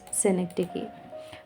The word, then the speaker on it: synecdoche: This is pronounced as synecdoche.